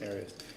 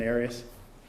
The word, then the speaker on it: Arias: Arias. Have you ever heard pronounced any other way other than Arias? No. Okay. Yeah, because Juan Martinez likes to say Arias because it sounds like a Bond villain.